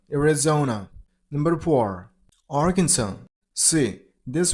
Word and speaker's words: Arizona: Number three. Arizona. You got to stress on the third syllable. I mean on zosium. Arizona. Arizona.